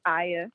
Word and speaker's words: Aya: Is it Goddess? It's Aya. Aya. Oh, damn. I was one syllable off.